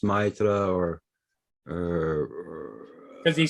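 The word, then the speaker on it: maître: Is Matre, is that teacher? Maitre, no, Maitre, it's, oh, frick, how you say it in French? Sort of like saying Mister. Oh, okay. Yeah, Like Monsieur. yeah, it's like Monsieur, but it's Maitre or, Because he said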